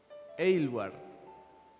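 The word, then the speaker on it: Aylward: ¿Cómo se puede pronunciar, Sami, este apellido? Eward. Gladis Eward fue una mujer que nació en 1902 y falleció en 1970.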